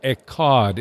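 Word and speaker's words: echad: one that word one in Hebrew is we pronounce it a cod ec h ad in Genesis Adam and Eve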